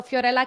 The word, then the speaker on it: Fiorella: with ABA okay so fiorella can you please introduce yourself um first of all I love how you say my name because that's exactly how you should say it's very rare that people